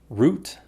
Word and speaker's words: route: Route, route. Honestly, I learned this word one way, but now I pronounce it both ways, and I can't remember which way I learned first.